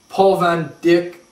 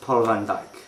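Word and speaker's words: Paul van Dyk: two three the First with my main man Paul Van Dick and he's gonna be chatting us up about the politics behind Colts actually it's pronounced Paul Van djk whatever Dick Van djk question one what is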